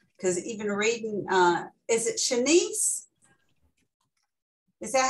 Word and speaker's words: Shennice: Because even reading, is it Shennice? Is that how you pronounce it correctly, Shennice? Shennice, yes.